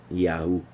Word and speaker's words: Yahu: So there are many examples to know and show why and how these 3 letters are pronounced Yahu.